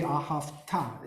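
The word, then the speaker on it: ואהבת: And also, so to the accents, the ahafta, okay, the accent is on the very last syllable, because you have those two dots above. The ahafta is really the correct pronunciation.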